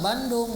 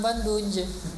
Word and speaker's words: Bandung: Kita bacanya tetap Bandung, jangan Bandunj.